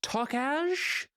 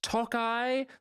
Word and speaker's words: Tokaj: Frank suggests some wine, and he pronounces it tokaj. It is pronounced Tokai, you fucking plebe.